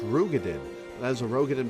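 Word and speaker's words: Roegadyn: admit some slight delay technically rogue it is pronounced rugadin and as a rogue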